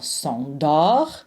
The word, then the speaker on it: s'endort: Elle s'endort. Don't pronounce the T.